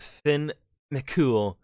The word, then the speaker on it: Fionn mac Cumhaill: was miss lady smith finn mccool because apparently that's how you pronounce it i'm gonna put